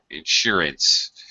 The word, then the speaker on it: insurance: insurance insurance ooh yeah get second syllable stress insurance friends okay that's it